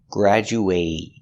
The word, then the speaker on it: graduate: very good example graduate graduate is a verb making the long a sound graduate graduate they will graduate